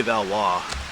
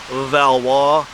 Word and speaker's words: Valois: There's the whole Valois line of kings in France. Maybe I'll put the name down below. It looks like Valois, but it's Valois in French, if I'm saying it correctly.